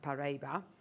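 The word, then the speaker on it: Paraíba: look at this slide Parable tourmaline pronounced paraba is a region in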